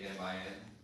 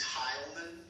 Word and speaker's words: Heilman: You said Hialamin. Halman. No, I'm sorry. It's Heilman, which is spelled Heilman.